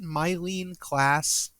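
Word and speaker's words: Myleene Klass: Is it Mylene Klass?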